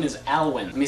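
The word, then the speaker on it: Alwyne: is actually pretty cool my middle name is alwin let me spell that for you it's a l w y n e alwin question fo name one thing you want to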